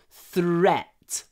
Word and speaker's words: threat: take their threat seriously this th sound threat you need your lips forward th th and then straight back thre thre thre I didn't take there